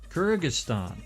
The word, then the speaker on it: Kyrgyzstan: Kyrgyzstan.